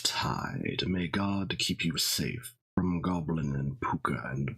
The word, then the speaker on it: Samhain: one will perhaps be more sa flavored which is of course the correct pronunciation hello VR mystery school